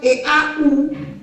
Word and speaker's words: eau: Et on a aussi la prononciation EAU, que suena como O. La EAU suena como O. Par exemple, on peut dire l'eau, significa agua en español. En français, on dit eau.